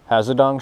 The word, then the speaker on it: Hazedong: cool thing about this hazadong shad and i call it hazadong just because that's the way the people i watch pronounce it i got made fun